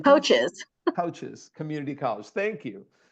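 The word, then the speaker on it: Kishwaukee: name of this community I don't want to mispronounce it say it for me coaches community at the top yeah kicha K coaches coaches Community College thank you using oh I'm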